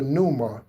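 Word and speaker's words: pneuma: That is the numa. Okay? That is the numa. That is spelled p neu m a.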